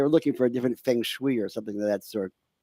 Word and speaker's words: feng shui: I guess they were looking for a different feng shui or something of that sort. Did Oh, I that's pronounce that funny.